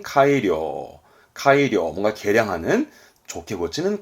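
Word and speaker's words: 改良: 고칠 개자 붙어서 개량, 발음은 카이료, 카이료, 뭔가 개량하는, 좋게 고치는 카이료가 되겠습니다.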